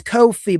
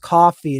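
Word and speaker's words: Ko-fi: I keep saying it's Kofhei, but I was actually told today it may actually be pronounced coffee and just spelled C O Fi.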